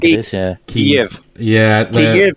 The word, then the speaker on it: Kyiv: Kyiv if you're Ukraine, Kiev if you're Russia. But Kyiv.